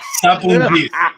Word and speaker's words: Sapountzis: Sapountzis.